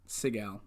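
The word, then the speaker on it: Siegel: kate how do you say her last name sigel thank you she plays deaf and mute in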